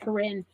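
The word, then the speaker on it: Karin: The Karen or Corinne, I think they're actually pronounced Corinne.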